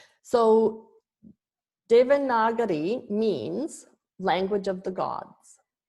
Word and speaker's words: Devanagari: So it's pronounced Devanagari. Devanagari.